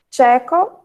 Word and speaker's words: tcheco: Tcheco, que apesar de ser escrito com TCH, a pronúncia é tché, que é bem parecida, né? Mas um pouco diferente da que estamos acostumados.